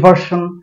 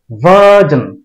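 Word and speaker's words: version: আমরা এটাকে বলি ইংলিশ ভার্সন, বাংলা ভার্সন ইত্যাদি। এটা ভার্সন না, এটার উচ্চারণ হবে ভার্জন, ভার্জন।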